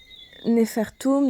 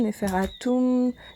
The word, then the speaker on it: Nefertem: Donc, Nefertum, Neferatum, Nefertem, différentes façons de prononcer les médonétaires, signifie vraiment la beauté, le concept d'accomplissement parfait, ce concept de perfection.